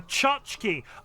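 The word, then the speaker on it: tchotchke: dozen so many more pronounce it like a chachki oh I know what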